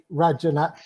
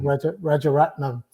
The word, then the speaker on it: Rajaratnam: There's a couple of different things that kind of, I googled Rajanat, and I'll get his name wrong, Rajaratnam, earlier, because I do remember the story from when it broke.